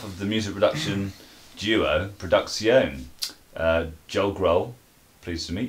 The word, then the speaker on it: PRODUX1ON: Okay, we're here with one half of the music production duo, PRODUX1ON. Joel Grohl. Pleased to meet you, Joel. Before we go any further, can I just say it's actually pronounced PRODUX1ON. PRODUX1ON.